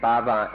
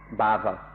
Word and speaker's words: bhava: กามภพก็มีทุกอย่างกามรูปภพก็มีทุกอย่างรูปเพราะมันมีอัตตามีตัวตนในรูปภพนี่อรูปภพ formless นั่นก็มันมีอัตตาว่าฉันไม่มีรูปมันมีอัตตาเหมือนกันกามภพก็มีอัตตารูปภพก็มีอัตตาอรูปภพก็มีอัตตาเลยเป็นทุกข์กันทั้งสามภพเดี๋ยวนี้เราออกมาได้จากสามภพไม่มีภพใดๆไม่มีอิทธิพลแห่งภพใดๆที่จะทำให้เราเป็นทุกข์นี่ก็คือความเป็นพระอรหันต์ชนิดหนึ่งcharacteristic ของพระอรหันต์ชนิดหนึ่งหมดภพสิ้นภพเหนือภพเลิกภพ This word that I pronounced bhava is spelled B-H-A-V-A, and my pronunciation has been corrected to bhava, bhava, not bhava, bhava, bhava, bhava.